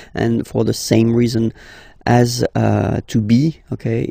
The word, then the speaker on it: as: Okay, second one, tu as, okay. As usual in French, final S is not pronounced.